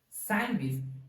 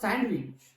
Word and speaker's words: sandwich: not sandwich that is sandwich but sandwich sandwich so pronounce this I had sandwich not sandwich okay fine letter D is a silently term pronounce it as sandwich sandwich fine so now